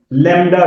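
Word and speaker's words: lambda: लैम्डा के साथ, LEMBDA, बी इसमें साइलेंट है, लैम्डा ग्रीक अल्फाबेट है।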